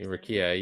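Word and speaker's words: Rukiya: Mbenga and Rukia, right? That's how you say her name? Is that right? Right, Rukia, yeah.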